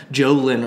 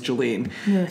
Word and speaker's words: Jolene: saying the wrong name he kept calling her uh Jolin or something her name's Jolene and I was just